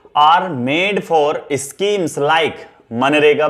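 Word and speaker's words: MGNREGA: तो budgetary policy are made for schemes like मनरेगा। बच्चों इसमें जी ना साइलेंट रहता है, हम जी साइलेंट रह के इसे मनरेगा पढ़ते हैं।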